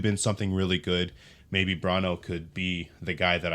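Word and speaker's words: Bronaugh: uh JT brono uh I shouldn't say brono because his name is actually kind of backwards it's spelled b r o n a u g and I want to say brono but it's actually it's brono JT brono uh from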